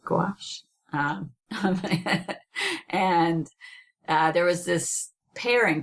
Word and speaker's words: gouache: Yeah, so there's an artist named Aimee Cutler, and she's a painter, and she does a lot on gouache. I think that's how you say it, gouache.